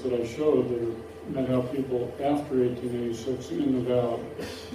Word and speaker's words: Methow: They all say Meathow now, and it's important that it's two syllables without a TH sound.